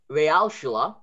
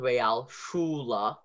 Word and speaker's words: Realschule: And then the U sound, Realschule, that's a U.